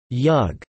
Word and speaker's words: jug: The name Yugoslavia, an anglicized transcription of Jugoslavia, is a composite word made up of jug, yug, with the J pronounced like an English Y, and Slavia.